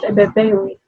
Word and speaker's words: Ebebeinwe: So today on our panel, we have Miss Ebebeinwe. I hope I'm calling the name correctly. Try. It's actually pronounced Ebebeinwe. Ebebeinwe.